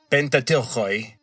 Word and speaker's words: Pentateuch: Also, in the Greco-Roman world, they were referred to as the Pentateuchoi. Pente is 5, and Teachos is a scroll in ancient Greek. And so, in modern English pronunciation, we just say Pentateuch.